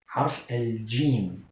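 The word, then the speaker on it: حرف الجيم: Et en arabe, on le prononce plutôt comme les Anglais. J. J. Harf al-jim. C'est ça la prononciation correcte. Contrairement à celle des Marocains, par exemple.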